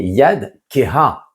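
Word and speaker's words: יד כהה: Ne lis pas donc yadecha ta main, mais yad keha, puisque on écrit ce he, eh bien on doit le prononcer.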